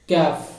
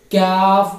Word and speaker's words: کاف: The letter kaf is pronounced by the raising by the back end of the tongue to touch the hard plate.